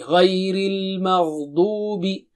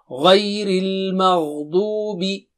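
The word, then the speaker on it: غَيْرِ الْمَغْضُوبِ: And this is dubi. Du is very, dad is thick and high. Dubi. And make sure you pronounce the dad properly. Dubi. Ghayril maghdubi.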